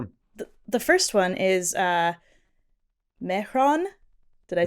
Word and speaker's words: Mehran: The first one is Mehran.